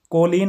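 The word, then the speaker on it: choline: कोलिन वैसे पढ़ते हैं आप या कोलीन बोल सकते हैं।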